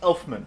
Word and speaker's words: Elfman: John Elfman no John it's it's pronounced Elfman it's not oh sorry else my Valerius valerian sure it's not Danny Elfman listen valerian are my full